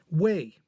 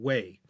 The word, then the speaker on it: Wei: a different character but shared the same fourth tone in its pronunciation.